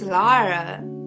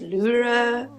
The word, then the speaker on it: Luh'ra: It's Lara, like Lara. I know a lot of people think that my name is like pronounced Luh'ra. Luh'ra Um. yeah, I thought like if I make my debut EP called Lara, people would catch on that it's not Yeah. Luh'ra, it's Lara.